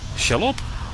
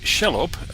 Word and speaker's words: Shelob: The Overside Children of Shelob are organising against the Uruks, forming raiding parties to bring down what they consider to be invaders into their lands.